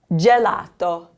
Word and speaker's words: gelato: The G is followed by an E, so it's gelato.